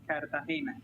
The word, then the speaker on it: Cartagena: It is pronounced Cartagena.